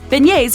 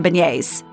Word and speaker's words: beignets: Like in many words of French origin, some of the consonants, the G and the T specifically, are not pronounced. Just think of how you'll say yay when you get to have some beignets.